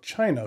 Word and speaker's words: Qin: the first emperor of China who lived around 2,000 years ago and it is called the Chin Dynasty now chin is spelled q i n there are a variety